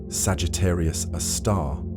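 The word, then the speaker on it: Sagittarius A*: The super massive black hole at the center of our galaxy known as Sagittarius A, pronounced Sagittarius, a star, provides a magnificent example of these cosmic behemoths in action.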